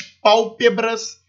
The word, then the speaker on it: pálpebras: penúltima sílaba né o a partir da antepenúltima sílaba como aqui um exemplo suas pálpebras estão pesados então pau ter a sílaba tônica